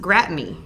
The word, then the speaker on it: Gratigny: turns out it's pronounced gratmi right and it's a french last name and that is named